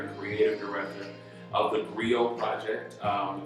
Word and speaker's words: griot: am the founder and creative director of the griot project rio is spelled g-r-i-o-t and we are an educational theater